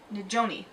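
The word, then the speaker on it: Nizhoni: Najoni Begay. There is a pronunciation guide in here. Najoni? That sounds right. Yeah, Nijone. Nijoni.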